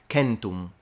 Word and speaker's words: centum: But in classical Latin, the pronunciation of 100 would have been centum, with a completely nasalized M, and the C is a K.